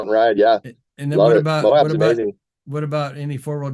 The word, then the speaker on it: Moab: Now, Moab, is that how you pronounce it? Moab.